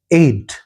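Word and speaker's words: aide: हालांकि एड का देखो एक स्पेलिंग तो एड होती है। ए आई डी जैसे फर्स्ट एड हम यूज करते हैं। इसकी स्पेलिंग थोड़ी सी अलग है। ए आई डी ई लेकिन तब भी इसका प्रोनंसिएशन एड है।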